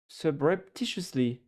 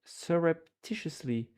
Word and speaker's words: surreptitiously: I wanted to say subreptitiously. Surrep it's a different word. Surreptitiously, except from being surreptitiously kind of sexy.